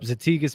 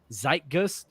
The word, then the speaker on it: Zeitgeist: we looked it up zatigus means a trend and we're not saying it correctly it's really pronounced zeit Zeitgeist but since that's how